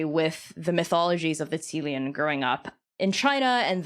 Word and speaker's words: Qilin: having me Wizards of the Coast went with Kieran but are there other names that people are